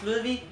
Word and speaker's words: Ludwig: So this right here is Ludwig. That's how you say it in Danish. I don't know how you would pronounce it in English actually.